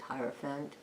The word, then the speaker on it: Hierophant: probably seen this whoa very powerful I'm the Hierophant or hero fan time it's pronounced Hierophant the artwork is amazing love it's like it's